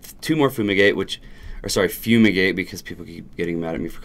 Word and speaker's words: Fumigate: never pronounce it right it just looks like Fuma gate and it's just fumigate I don't I don't